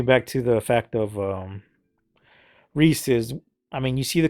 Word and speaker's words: Reese's: absolutely no sense because the commercial basically tells you how to say it it's rhesus don't say Reese's so where all this